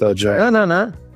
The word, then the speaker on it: Ledaig: Yeah, it's pronounced Lachag. No. Ledaig. Yeah, pronounced Lachag. Ledaig. Okay. No, with CH. The D is a CH.